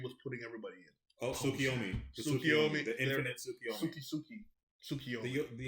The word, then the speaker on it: Tsukiyomi: he wakes up from I forgot what the Tsuchiyoki, I can never pronounce it, I apologize. But basically the dream state that the tree was putting everybody in. Oh, Tsukiyomi.